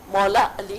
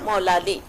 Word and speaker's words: مولا علی: اردو میں لکھا جا رہا ہے تو اس کا تلفظ بدل دیا جا رہا ہے, جیسے کوٹھی, کوٹی, مولالی, مولالی, مولا علی کی بجائے مولالی.